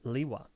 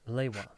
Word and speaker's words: Lewa: i lj of ttv have always said leewa i was wrong it's actually lewa say anything i say otherwise is a lie haha very funny 26 000 but seriously though the correct pronunciation as lei not liwa deal with it i